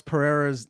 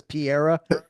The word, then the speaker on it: Pereira: He's one of my favorite personalities in MMA, but I feel like he says Alex Pereira's name wrong on purpose. Do you know what I'm talking about? He always says Piera.